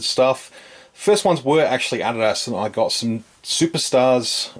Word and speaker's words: adidas: don't know i s this is how we pronounce adidas here in australia but i know it's actually adidas so i will do